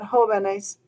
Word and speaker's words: jóvenes: mark there is because I want the word to still be pronounced joven, with the stress being on that first syllable, like it was in the singular.